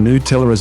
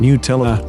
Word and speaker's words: Nutella: european judging americans for pronouncing nutella new tellers of it were made from ducking hazelnuts shortly followed by a screenshot from nutella s frequently asked questions declaring it as pronounced nutella the comeback man you